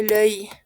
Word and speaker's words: l'œil: La pronunciación es difícil, sí, pero pueden pronunciarlo como un oi, pero no con una O abierta, sino como un œil.